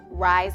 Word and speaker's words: rise: Rise and shine. Say it. Rise. Tap it. Eyes. Rise. You should have R, I blank E, with an S that sounds like a Z because it's near the end of the word.